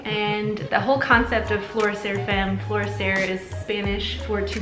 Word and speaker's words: Florecer Femme: But I wanted to now go into Florecer Femme.